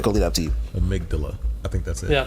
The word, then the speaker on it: amygdala: podcast i'm just gonna lead up to you amygdala i think that's it yeah that's right that's